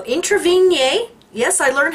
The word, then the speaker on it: Introvigne: article by Miguel Martinez March of 2003 how intervene yay yes I learned how to pronounce his name correctly got the watch hard